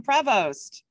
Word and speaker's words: Prevost: Well, I'm glad I asked for the correct pronunciation of his name because it's Tom Prevost.